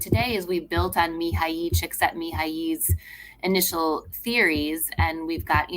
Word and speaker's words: Mihaly Csikszentmihalyi: I can pronounce it for you. It's Please. It's Mihaly Csikszentmihalyi, who's the father of being in a flow state.